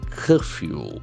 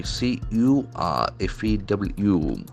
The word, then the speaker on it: curfew: got a beautiful pronunciation the letter c has got a hot sound curfew curfew the middle R is silent and actually the first letter has got a sound also curfew curfew curfew a rule that everyone